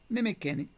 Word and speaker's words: Nemequene: Se trata de una palabra compuesta por los dos vocablos y era pronunciada por los muescas de manera intermedia, pero era más cercana a la e. Neme kene. Nemekeni.